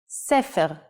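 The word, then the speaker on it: סֵפֶר: and in print now let's see how the nikud changes the pronunciation and meaning of the same word cefer looks the same so why are they read differently let's look at the same words with nikud cepher is a book siper is he told and sapar is a barber the only way to guess the right reading is by understanding the context so practice your hebrew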